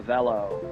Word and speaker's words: Avelo: uh in people's heads that rhymes with hello and jell-o and a few other things so uh so we